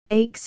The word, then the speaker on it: aches: web dot footnote 2 aches is two syllables but modern printers who had lost the right pronunciation have aches as one syllable and then to complete